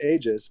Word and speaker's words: Aeges: to pronounce it either the only reason we call it ages is because it was a-g-e-s before that so it's it's kind